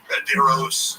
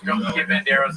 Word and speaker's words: Banderas: Let's drop a syllable. Banderos. Banderas is good.